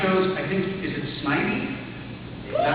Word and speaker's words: Snivy: How do you say it? The first way I said it. What was the first way I said it? Snivy? Okay, good.